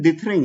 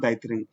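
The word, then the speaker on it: dithering: इसका जो प्रोनाउंसिएशन है, हाँ सॉरी, इसका प्रोनाउंसिएशन डिथरिंग है। ठीक है, नॉट डाइथरिंग।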